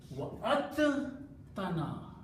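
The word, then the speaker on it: وعدتنا: So instead of pronouncing dal and ta separately, we just pronounce ta twice.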